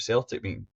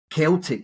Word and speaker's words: Celtic: This quote is interesting because choosing the name Celtic, really, we should say, rather than Celtic, but over the mist of time, it just became a soft C rather than the hard C.